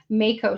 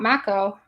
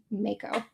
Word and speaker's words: mako: Oh, some mutant says it's pronounced Mo. Thank you. Makeo shark, not maco. Mako.